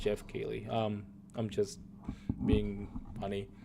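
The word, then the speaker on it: Geoff Keighley: Oh man, my dude Giov Kegley. I know he's pronounced Jeff Keley.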